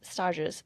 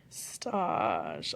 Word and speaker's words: stage: Stage. Also, am I spelling it right? S T A G is like stage. It's just pronounced funny because it's French.